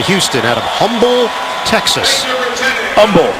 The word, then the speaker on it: Humble: Humble. The H is silent, my friend.